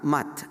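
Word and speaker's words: Mutt: y eh el estaba firmada como r mood, como ven en la fotografía que se pronuncia mat en inglés, eh y con la fecha 1917.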